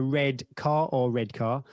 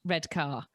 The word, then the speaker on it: Redcar: I can't remember what find mud, a red car. Now I had a northern friend who I went skiing with, who is a big podcast fan, who said it's not actually even pronounced red car. Redcar.